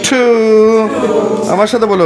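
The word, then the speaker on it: to: এটার সহি উচ্চারণটা কি একটু ঠ এর দিকে টি টি হালকা করে টি টি টু টু আমার সাথে বলো গিভ ইট টু মি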